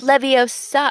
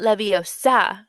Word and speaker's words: Leviosa: And so, um, it's Leviosa. It's Leviosa, not Leviosa, because he's so sassy and he's he tells her, "Well, then you do it if you're so clever."